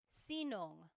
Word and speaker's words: sinong: If you have sino ang in a question, you might hear sinong.